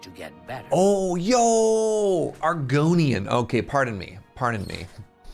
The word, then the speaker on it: Argonian: Is this not an Argoian? Did I get the name wrong? How can I help you? Is this train? Good that you want to get better. Oh, yo, Argonian.